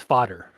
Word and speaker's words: Vader: Though though it's pronounced differently than what it sounds like. The way it's spelled is basically Darth Vader, but the way it's pronounced in Dutch, it's Vader.